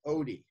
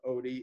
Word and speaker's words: Oddi: At the ampulla of Vater, there's another structure called the sphincter of Oddi. Reminds me of the dog in Garfield, but it's spelled differently.